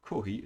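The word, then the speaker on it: コーヒー: tea ceremonies corey or kohi is a japanese pronunciation for coffee coffee is very popular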